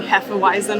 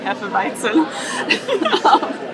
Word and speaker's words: Hefeweizen: I'm going to be saying Hefeweizen a lot, like the anglicized pronunciation. I'm sorry, it's easier for me to say, and also I feel a little bit pretentious going around saying Hefeweizen. Forgive me, Germany. But anyway, Hefeweizen is my